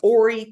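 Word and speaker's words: Horry: sea area of of Ory County South Carolina ory county not Hy like it's spelled she has three brothers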